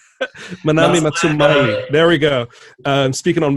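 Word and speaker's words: Manami Matsumae: depth, like Christopher Larkin on Hollow Knight and Manami Matsumoi. Damn it, I got her name wrong. Manami Matsumai.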